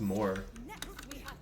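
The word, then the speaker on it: Mawer: r but it's PR it's pronounced more it's one of those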